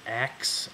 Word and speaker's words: ask: about Ebonics is the stereotypical pronunciation of ask, A-S-K, as aks, A-K-S, phonetically. In fact, the original pronunciation of the verb to ask, as I pronounce it in my dialect, was pronounced aks, back in the old